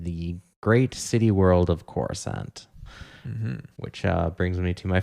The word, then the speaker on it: Coruscant: I believe it's Coruscant. Coruscant. I believe... like a croissant, but Coruscant.